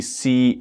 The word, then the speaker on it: caught: catch is caught caught I know you can see c-a-u-g-h-t but the pronunciation is caught and another very common